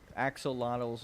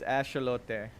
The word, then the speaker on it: axolotl: If you pronounce it axolotl, you're wrong. It's not what it's pronounced like. It's axolote. Or something like that.